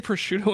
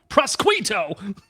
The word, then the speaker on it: prosciutto: If you say prosciutto in your head, it sounds like a sneeze. Unless you wildly mispronounce it, then you sound the Southern American prosquito.